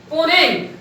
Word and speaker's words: Mponeng: इसके अलावा world's deepest gold mine, दुनिया की सबसे गहरी गोल्ड माइन भी है, ये जो है पोनेंग, एम साइलेंट है वहां पर, MPONENG।